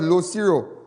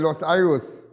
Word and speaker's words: Los Iros: The more fact, many of you know the area of Los Iros, but the correct pronunciation is Los Iros.